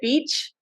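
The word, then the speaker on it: Bitche: called it's spelled okay I think you say it Beach okay I don't know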